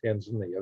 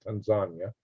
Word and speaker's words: Tanzania: I would expect Kenya and Tanzania, not Tanzania, they pronounce it Tanzania over there, might link up and become an Eastern African superpower.